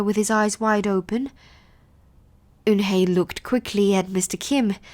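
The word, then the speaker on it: Unhei: he asked her with his eyes wide open Yoon hae looked quickly at mr. Kim then turned to Joey she nodded slowly yes it's pronounced hoon Hey and it means grace mr.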